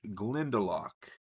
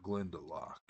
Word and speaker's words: Glendelock: Together they form a makeshift family and attempt to reach Glendelock. Um it looks like Glendelo, but the book pronounces it Glendelock.